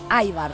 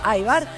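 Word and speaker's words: ajvar: Aibar. Se escribe ajbar, se dice aibar.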